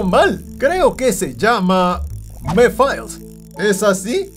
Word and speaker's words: Mephiles: Y siempre lo pronuncio mal. Creo que se llama... Mephiles. ¿Es así? ¿Mephiles?